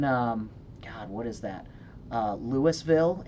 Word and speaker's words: Louisville: God what is that Louisville in Kentucky Louisville is Louisville that's actually how it's pronounced Louisville nope its Louisville fight me good when Tibet so